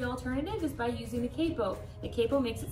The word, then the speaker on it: capo: if you said capo 100% correct good yeah it's spelled c.a.p oh so some people might think to call it capo which is often times what I'll say just